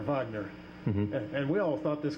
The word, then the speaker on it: Wagner: never know MH now the Germans pronounce Wagner Vagner and we all thought